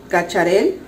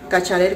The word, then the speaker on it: Cacharel: Este es el, ¿cómo me dijeron que se pronuncia? El Cacharel. Cacharel creo que se pronuncia.